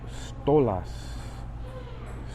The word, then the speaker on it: Stolas: And the demon is Stolas. Stolas. Reminds me of like some kind of vodka. They call that Stoli's.